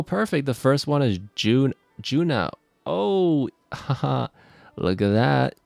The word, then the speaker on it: Juneau: Pronunciation. Juneau? Oh, it's Juneau? Wait, really? Juno. Oh, no, it's Juneau.